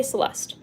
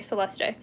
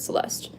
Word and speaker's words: Celeste: I just say Celeste. In some cultures, they pronounce the E, they say Celeste. But I pronounce it Celeste.